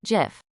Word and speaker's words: GIF: It is a soft G, pronounced GIF.